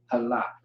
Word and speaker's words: Halak: The A is going to drop off with the K. So you left with L-A and then K. Halak. Halak is how you say that word.